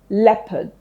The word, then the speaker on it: leopard: Leopard.